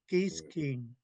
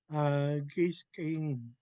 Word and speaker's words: Guiskin: Um, oh, the W is not pronounced. Geeskin. No, Um, it's a hard K. yeah, Geeskin.